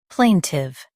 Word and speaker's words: plaintive: Plaintive. Both US and UK have the same pronunciation of this word. Plaintive. Now read the syllables shown on the screen naturally. Plain. Tive. Plaintive. Emphasize plain and soften tive.